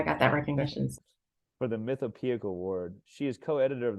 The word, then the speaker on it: Mythopoeic: I was going to ask you how to pronounce it. I should ask you before. Mythopoeic? Mythopoeic. I'm sorry, one more time? Mythopoeic.